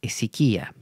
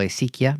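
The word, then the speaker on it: hesiquía: que se llama la esiquía, ¿no? Yo en otras ocasiones lo he pronunciado esiquia, pero bueno, sabrán disculpar ya que mi dominio del griego no es mayor que el dominio del castellano.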